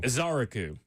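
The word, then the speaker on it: Ezeiruaku: Azaraku based on the pronunciation guide from the the Tennessee Titans.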